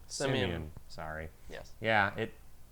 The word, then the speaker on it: Simeon: son also, and he has called his name Simon. Simeon.